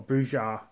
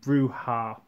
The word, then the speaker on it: Brujah: clambruya or bruja or brujar i've heard it pronounced many different ways for years i used to say bruja but of late i've been calling him bruha quite like the way bruja sounds uh i think it